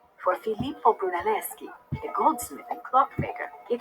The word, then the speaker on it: Brunelleschi: Filippo Brunelleschi is how you say his last name.